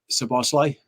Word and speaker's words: Szoboszlai: How do you pronounce his name? How do you Scousers say it? Szoboszlai.